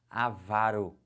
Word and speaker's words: avaro: a pronúncia correta agora gravem agora comigo a pronúncia dessas paroxítonas já vão marcando assim ela vai aqui como é que fala isso avaro que que é avaro a vara pão duro